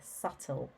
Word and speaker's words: subtle: being secretive and that's actually spelled with a silent B sub-2 el e subtle number three was a